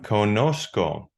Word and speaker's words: conozco: You have conozco. Conozco. So it gets a ZCO pronounced sco.